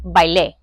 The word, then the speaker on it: bailé: No bailé. That's right. I didn't dance. Because I said E with the accent on the end, bailé, I didn't dance.